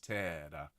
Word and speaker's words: terra: Let's have the double T in there to just make sure it's really clearly enunciated. Pleni sunt cieli et terra.